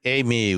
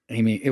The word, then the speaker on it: AI:ME: Amy was the way that they were saying it. Yeah. Amy.